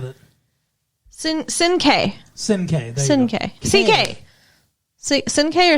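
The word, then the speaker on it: Cinqué: Sinke. Sinke. Sinke. CK. Sinke or CK? CK. CK. Okay. Something like that. Sinke or CK?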